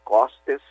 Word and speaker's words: costes: Páscoa, por isso Pentecostes, Este costes, que é pronunciado aberto também, costes, ele quer dizer período.